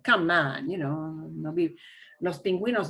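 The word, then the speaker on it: pingüino: you is silent but go ahead and pronounce the u it doesn't happen often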